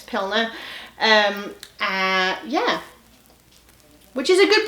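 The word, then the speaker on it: Pliner: Pilner. That's how you say it. Yeah, it's Pilner.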